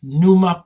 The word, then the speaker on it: Pneuma: Mike Alpha and podcast, NUMA podcast as in pneumatic.